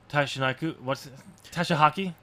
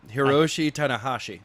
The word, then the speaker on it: Hiroshi Tanahashi: So the winner of that match, whoever's going to be in the finals against Tashihaki No, Hiroshi Tanahashi. Tanahashi. I cannot pronounce Japanese names.